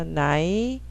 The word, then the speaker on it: night: I 합쳐서 night, GH는 묵음. 단어 영어에 들어가는 GH는 거의 다 묵음이야.